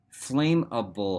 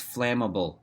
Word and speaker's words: flammable: better leave me alone flame a bull huh see what I mean it's flammable she said pronouncing it correctly either way that means